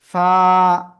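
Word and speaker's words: ف: কিভাবে উচ্চারণ করতে হয় নিচের ঠোটের পেট উপরের দুই দাতের আগায় লাগান লাগান লাগান লাগিয়ে হালকা বাতাস বের করেন এভাবে দেখেন বাতাস বের হচ্ছে কিনা বাতাস যদি বের হয় ওই অবস্থায় আপনাকে জাস্ট এক আলিফ টেনে উচ্চারণ করতে হবে ফা সবাই একসাথে জোরে বলতে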